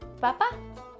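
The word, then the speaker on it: papá: what about a papa papa in Spanish is Papa same thing sounds similar just a little Accent on the end so it's papa papa or D and this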